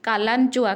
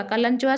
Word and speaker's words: Kalanchoe: Example होची कालांचोआ। कालांचोआ spelling KALANCHOE कालांचोआ, सिडम SUDUM, अफुनसिया, पाइनापुल।